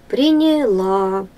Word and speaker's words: приняла: ударение на первый слог приняла ударение на третий слог не нужно ставить ударение